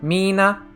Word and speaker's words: Mina: So there's a long E for the dancer's name. And it's a short. So it's Mina and Mina.